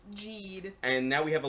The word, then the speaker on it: Geed: It's pronounced Geed. The spelling is all over the place, but it's pronounced Geed.